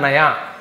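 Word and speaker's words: knew: यह वाला नया लेकिन k के साथ यदि आप न्यू लिखेंगे तो इसका मतलब होता है जानता था या फिर जाना यह न्यू किसका सेकंड फॉर्म है यह नो का सेकंड फॉर्म होता है नो यहां पर भी के सेलेंट होता है तो k ए यदि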